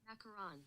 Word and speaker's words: macaron: Macaron.